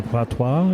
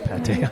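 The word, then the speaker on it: pâté: in the patois. Is that how you say it? The pate? Oh, it's pate.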